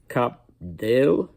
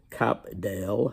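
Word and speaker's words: Cap d'Ail: so that's that and this French name that I can just never ever pronounce uh cap Dale as I say it is c a p d Apostrophe a i l in case any of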